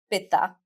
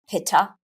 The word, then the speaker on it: Pitta: They are what we call in Ayurveda Vata, Pitta, and Kapha. Here in the West, we pronounce those Vata, Pitta, and Kapha.